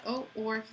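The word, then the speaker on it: où: I'm sorry, it's pronounced oo, but it means where.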